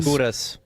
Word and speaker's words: Gudas: Gudas.